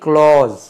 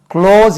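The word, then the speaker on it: clause: independent sentence அது main க்ளோஸ் க்ளோஸ் அதுக்கு உச்சரிப்பு அடிக்கடி நான் சொல்வது உண்டு சி எல் ஏ யூ எஸ் இ க்ளோஸ் என்று உச்சரிக்கணும் இது க்ளோஸ் அது கிளாஸ் என்று உச்சரிக்க கூடாது க்ளோஸ் மெயின் க்ளோஸ் இன்டிபென்டன்ட்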